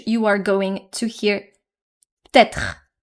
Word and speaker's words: peut-être: are going to hear peut-être, peut-être, which is also very common. Sometimes you might also not hear the R from être in peut-être.